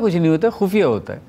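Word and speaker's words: ख़ुफ़िया: well, there's no Khoofiya. There's a Khufiya. Oh, I've been pronouncing it wrong since childhood. Thank you. So, the series 'Khufiya'... First of all, pronounce nukta. And then remember matras.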